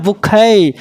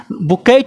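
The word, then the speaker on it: bouquet: উচ্চারণটা বুকে, বুকেট নয়, বুকে।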